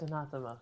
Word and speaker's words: anathema: It's anathema. Enough. So that's how you pronounce it.